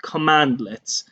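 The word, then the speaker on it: cmdlet: powershell we have uh these this cmd leds are are are pronounced commandlets commandlets are basically piece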